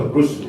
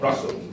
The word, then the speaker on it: Russo: I always pronounce as Peter Russo, not Russell.